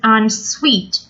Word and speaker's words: ensuite: To some people, having ensuite bedrooms is essential. Ensuite. S-U-I-T-E is pronounced suite.